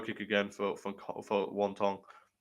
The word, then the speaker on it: Wang: I made the mistake of betting Wang Kong by finish like in a Rogan is legit calling her Wong. Yeah, that's apparently how you're supposed to say her name.